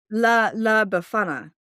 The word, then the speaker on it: La Befana: this right now and screaming because I'm sure she can pronounce it. La Befana, La Befana, Okay.